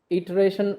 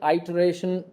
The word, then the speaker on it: iteration: इटरेशन, आइटरेशन, जैसे भी आप प्रोनाउंस करो, इट्स ओके.